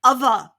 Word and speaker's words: other: vibrate that's it perfect so it's not the normal th it's the vibration th and that's what makes it difficult so we've got ah well done other perfect i'm proud of